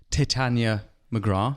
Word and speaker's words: Titania McGrath: You're the man behind Titania McGrath. Yeah. I pronounced it correctly?